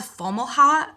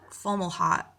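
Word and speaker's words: Fomalhaut: star so i'm sorry if i'm not pronouncing pronouncing it right but it's called fomo hot formal hot f-o-m-a-l-h-a-u-t it's an ancient fixed star that they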